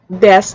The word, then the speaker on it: desu: japanese is pronounced as this is especially true at the end of the words such as death or mass which then sound like des and mas desu should be pronounced as desu and masu should be pronounced as mas another example is suki